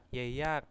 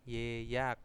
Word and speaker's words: 예약: Yeyak yaitu pemesanan ya. Yeyak itu tetap diucapkan ye ya.